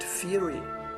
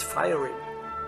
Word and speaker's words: fiery: the author is sorry for mispronouncing fiery and fieriness through throughout this video please understand Fury as fiery and fieriness as fieriness in a moment